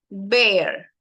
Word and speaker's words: bear: This is like typical from TikToks, like when they pronounce difficult words. We have beer, cerveza, beer. Bear, bear, oso.